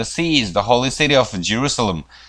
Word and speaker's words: Jerusalem: 자, 예루살렘은 영어로 발음이 자 Jerusalem입니다. Jerusalem 이렇게 합니다. 제가 아니고 Jerusalem.